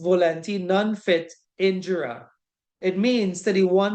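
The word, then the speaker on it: volenti non fit injuria: It is pronounced volenti non fit injura.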